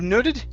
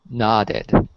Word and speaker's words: nodded: word nodded right here instead of noted it's not knotted nodded okay nice job let's